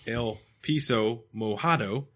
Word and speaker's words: El Piso Mojado: on the latest podcast my name is pronounced el piso mojado you were so close it means the wet floor and Spanish Oh which is dope the